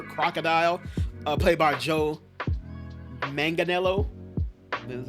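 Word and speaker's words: Manganiello: uh played by Joe Manganelo.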